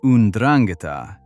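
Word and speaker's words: 'Ndrangheta: The Ndrangheta, pronounced "oon-drang-i-tah", is the Calabrian mafia rooted in Calabria, the southernmost tip of mainland Italy.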